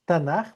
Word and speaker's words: Tanaj: Jesús aquí revela como todo el Tanaj, como todo el Antiguo Testamento, porque esto es Tanaj, ¿vale? T de Torá, N de Neveim, K de Ketuim, intercalado dos as para poder pronunciarlo mejor.